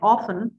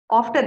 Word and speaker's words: often: I'll just tell you one word that is uh o f t e and often uh like many students will many students will actually pronounce the test often often okay so often often is